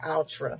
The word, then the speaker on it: Outre: by ultra wig pop ultra ultra i've heard it pronounced altra so i'll say altra since that's what it looks like it's by wig